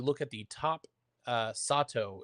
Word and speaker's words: Sato: When Hoshi enters, you look at the top uh Sato is what I'm being told. It is not Sedto.